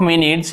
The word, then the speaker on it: minutes: So the meaning of minutes, इसका जो उच्चारण होता है ऐसे होता है minutes, ठीक है, यहाँ पे स्ट्रेस है।